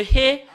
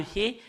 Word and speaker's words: ה: Le fait de prononcer le He, c'est AH ou A.